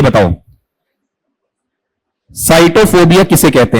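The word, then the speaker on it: sitophobia: एस आई टी ओ पी एच ओ बी आई ए इसका उच्चारण बताओ क्या है नहीं साइटोफोबिया सिटोफोबिया है या साइटोफोबिया साइटोफोबिया बताओ साइटोफोबिया होता क्या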